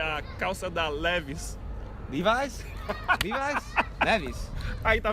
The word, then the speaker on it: Levi: Levi, em inglês, se pronuncia Levi.